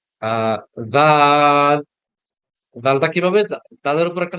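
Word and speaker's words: د: কি আছে এই যে এটাকে কিভাবে পড়বো দাল দাল দাল লম্বা করে পড়তে হবে আচ্ছা আচ্ছা জুমে হচ্ছে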